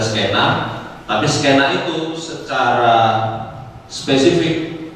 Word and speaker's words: skena: Jadi skena itu jadi potongan, mungkin paling sederhana dari istilah scene tadi diambil menjadi skena dengan pengucapan kita menggunakannya adalah skena, tapi skena itu secara